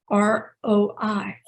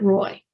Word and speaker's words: roi: A king is roi, R-O-I. It's roi, it's not Roy.